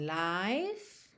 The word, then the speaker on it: life: Começando a gente tem Diamond Life. Atenção para não pronunciar o E, lembra que não existe life.